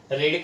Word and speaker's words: read: रेड, same रहता है, लेकिन उसका प्रोनाउंसिएशन अलग होता है। जो बेस वर्ब होता है तो रीड बोलते हैं, पास्ट टेंस में V2 रेड और V3 में भी रेड।